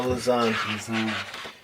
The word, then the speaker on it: Lausanne: This is pretty Lausanne? epic. Did I say it right? No, Lausanne.